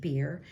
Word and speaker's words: bier: And many different people come from different regions, and they put Jacob on a bier, B-I-E-R, but it is pronounced beer.